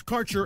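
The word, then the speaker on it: Karcher: details your connection to quab cannabis Insurance Services is spelled k a r c h e r that's carer insurance we have worked with Ventures like cannabis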